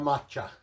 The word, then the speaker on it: macha: minutes starting now i did look up the pronunciation and this is salsa matcha salsa matcha you can see the oil is